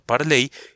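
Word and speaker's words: parlez: palabra está basada en parler o parles que es pronunciado parley y son formas del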